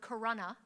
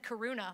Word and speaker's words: Corona: So after a few minutes of this, the commentators started to pronounce the word Corona, his hometown, properly. I know this because I grew up near there, so when they said Karuna, I was like, you guys are taken by surprise.